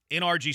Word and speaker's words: NRG: You pronounce it NRG. Yes. NRG Stadium, not Energy Stadium.